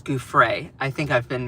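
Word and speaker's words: Giuffre: or actually, I'm sorry, it's not Guy, it's Guay.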